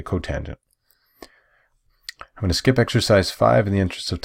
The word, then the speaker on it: cotangent: this one cosecant cotangent we don't say cot it's how like you don't know we're talking about say cotangent I'm gonna skip exercise